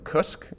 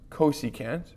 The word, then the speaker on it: cosecant: We wouldn't call this, I mean, there's not even any vowels, right? Cusk. No. You want to call it cosecant.